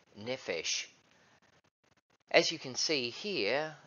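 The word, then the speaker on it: נפש: These words in English, my life, is Strong's number H5315, and it is the Hebrew word that is pronounced something like nephesh.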